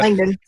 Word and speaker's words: Langdon: Langden is it is that how you pronounce his last name? Something like that. Langdon.